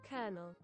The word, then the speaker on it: Colonel: Colonel.